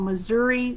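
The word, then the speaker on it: Mazuri: And we use something called Missouri waterfowl chicks waterfowl starter. And it's not Missouri like your state, Mel.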